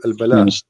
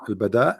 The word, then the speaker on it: al-bada: or al-bala? What? Sorry. I'm trying to understand what you are saying. Al-bala or al-bada? Well, Bada. al-bada With dal, yes.